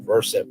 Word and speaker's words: Versant: The new company chose Vers um pronounced like the root word root the root of the word conversant to emphasize his versatility and familiarity with multiple subjects.